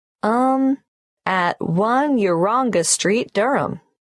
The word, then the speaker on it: Durham: at one urunga Street Durham how do you spell Durham d-u-r-h-a-m of course I should know that but it's just one of those names that sounds quite different from the way you spell it it is confusing I've